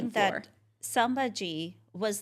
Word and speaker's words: Sambhaji: Sambhaji. You know what? Did I just say Simbaji? I mispronounced I think I said it that.